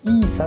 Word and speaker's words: ETH: それが 3.38ETH、これイーサって読むんですけども、イーサリアムですね。3.38 イーサ